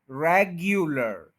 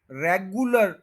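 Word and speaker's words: regular: ये यू, यू पूरा बोला जाएगा, यू, रेग्यू, रेग्युलर। ठीक है, रेगुलर, रेगुलर गलत है, रेग्यूलर ये ठीक है, रेग्युलर।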